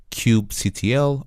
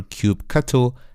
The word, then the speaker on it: kubectl: this command line application called cubectl or cubecattle as many people pronounce and basically with cubecatu or cubectl which i'm going to refer as in this course i prefer cubectl cubectl will allow us